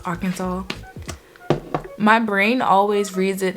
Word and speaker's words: Arkansas: state okay so you know how arkansas is pronounced arkansas my brain always reads it as our kansas and that's what's come on my mouth sometimes